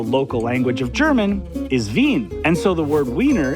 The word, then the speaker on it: Wien: Welcome to the Wiener Wirtschaft. No, it's actually Wiener witchcraft. Yeah. Yeah. No, no. It does how it's spelled exactly.